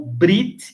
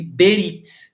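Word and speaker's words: ברית: Um exemplo é o Brit e Berit. Muitos hebraístas vão chamar Berit, aliança, e muitos hebraístas vão chamar Brit, Brit.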